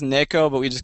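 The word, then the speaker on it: ねこ: Yeah, I mean it's pronounced Neko, but we just call her Nico because it's otherwise it sounds like you're saying naked.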